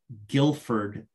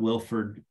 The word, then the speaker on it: Guilford: straight to hiring its archaeological consulting services of guilford not wilford g-u-i-l-f-o-r-d connecticut um i i've noted all of